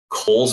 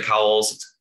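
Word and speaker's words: Cowles: beverly shores karen rookery kohl's bog even though it looks like cowell's pronounced kohl's apparently west beach miller woods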